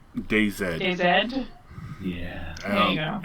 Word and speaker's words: DayZ: Daisy. It sounds very vulgar. Daisy. Okay. The one Americans pronounce wrong. DayZ.